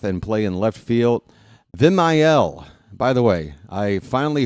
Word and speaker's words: Vimael: Very happy for Machine, but it's not Vimael, it's Vimael. There's a third syllable in there, and I'm going to do my best to get his name right.